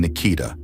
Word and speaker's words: Nikita: The Kronberg couple, Stephen and Nikita, emphasis on the last syllable, feminine name.